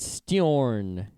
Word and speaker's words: Steorn: All right, so this Irish company called Steorn, Steorn. I'm linking to their website. I think it's like Storm, but Steorn.